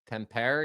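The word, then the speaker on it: Tampere: Tempair. Yeah. Is that how you say it? Tempair. Yeah.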